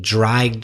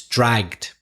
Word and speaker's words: dragged: pronunciation wasn't quite right you said drag then Edie but actually it's one syllable it's dragged because as we've mentioned before the pronunciation of Edie is usually with a silent e in English trying except for words ending and Tunde so dragged one syllable and one final thing